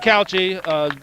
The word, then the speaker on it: Couchey: Sid kouchi Cao chia is a calculator I pronounce it said kouchi June 21st 2002 Cleveland Indians at Montreal so